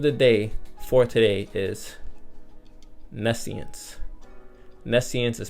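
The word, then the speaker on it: nescience: The word of the day for today is Nessian. Nessian is spelled N E S C I E N C E.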